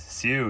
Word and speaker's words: Seu: Is that how you say his name? Seu? It is. Seu, yeah, Seu.